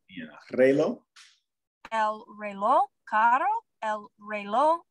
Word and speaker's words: reloj: El reloj. You don't pronounce the K. Reloj.